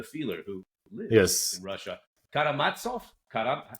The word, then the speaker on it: Karamazov: Karamatsov. Karam, how would you pronounce that? Karamazov.